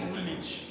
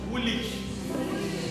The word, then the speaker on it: Woolwich: They call it Woolwich. Yeah. Woolwich. Yes. That means the W is silent.